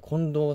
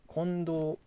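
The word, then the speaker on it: 金銅: ゴールドとどうカッパ金と銅と書いてこれ近藤さんと読むらしいです今度炭太郎さん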